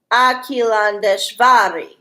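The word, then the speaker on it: Akhilandeshvari: There it is. Akilandeshvari. Yeah, that Akilandeshvari. That's how you say it.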